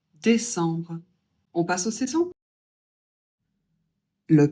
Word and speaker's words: décembre: Le E accent aigu toi être prononcé et le C, il est suivi d'un E. Donc, on va le prononcer E suivi d'un B. Vous commencez à avoir l'habitude, ça fait en et on prononce le B. Donc on dit décembre.